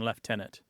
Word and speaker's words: lieutenant: you're in Canada and you follow at least for this particular word the more traditional British pronunciation left tenant yes uh my unit